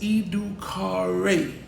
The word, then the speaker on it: educare: The word education comes from the Latin term educo or educare, pronounced educare, which means to draw out, to lead forth, or to rear out of.